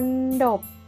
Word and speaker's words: มณฑป: ไหม คะ นี่ คือ มณฑป ออก เสียง ตาม คุณ ครู นะ คะ อ่าน ว่า มณฑป หมาย ถึง เรือน ยอด